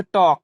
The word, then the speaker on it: talk: उसी प्रकार TALK, यहाँ के पहले एल है, तब यहाँ एल क्या रहेगा, साइलेंट रहेगा, तो इसे हम क्या पढ़ेंगे, टॉक, मीन्स बातें करना।